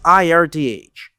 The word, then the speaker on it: Irth: This developer is Irth pronounced like Earth.